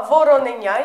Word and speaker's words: вороненя: наголос на третє О а вороненя як цуценя котиня ставимо наголос в кінці тепер вивчаємо ворона проворонила